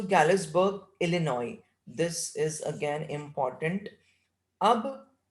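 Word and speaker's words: Illinois: एंड I wanted 2 tickets टू गैलिसबर्ग इलिनॉय। This is again important. अब Charlie कहाँ के ticket चाहता है अपनी वाइफ और उसके लिए? गैलिसबर्ग, और इसका प्रोनाउंसिएशन होता है इलिनॉय, एस साइलेंट है, इलिनॉय, इलिनॉय।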